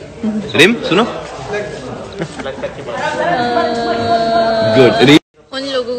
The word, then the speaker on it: Reem: क्या लोगों को कुछ बोलो जो मेरा नाम रीम नहीं रिम बोलता है। स्पेलिंग पढ़ लो नाम की। R E E M, pronounce that as रीम नॉट रिम। अगर रिम होता तो R I M होता ना।